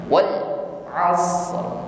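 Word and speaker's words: والعصر: Wal asr. Huruf ain hati-hati jangan diucapkan seperti huruf hamzah, bukan wal a, tetapi lunak saja, keluar dari makhraj wasatul halqi, tenggorokan bagian tengah.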